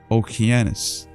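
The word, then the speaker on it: Ὠκεανός: The most ancient name of this river was Oceanus which in the Greek pronunciation Okeanos afterwards called Eagle upon the violent eruption.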